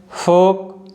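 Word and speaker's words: folk: Should, fifth one है फोक और last one है योग। तो आप देख सकते हो जो लेटर एल है इन सभी वर्ड्स में साइलेंट है।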